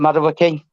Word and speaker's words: Mudryk: I can't pronounce it. Mudryk. What I came in. Is it Mudryk?